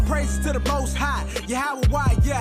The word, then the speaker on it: Yahweh: Now, depending on your form of Hebrew, you have some people pronounce it Yahweh. Another group pronounce it Yahuwah. We were taught Yahweh.